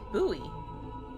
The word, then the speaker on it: buoy: So, it's a boy that doubles as a lighthouse. Boy, I pronounce it buoy. Is this a accent thing?